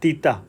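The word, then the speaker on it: theta: হয় লব্ধি কোণ বা তিতা। সো এটাকে আমরা যদি বলি বা উচ্চারণটা করা হয় তেতাও বলা হয়।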